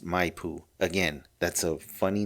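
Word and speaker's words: Maipu: Okay, it's spelled M A I P U. And I think it's pronounced Mayoo.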